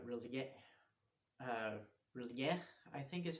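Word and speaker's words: R'lyeh: seem to be chanting about this city called Relie, I think is how it's pronounced, and where Cthulhu sleeps, and it's this sunken city out somewhere in the water.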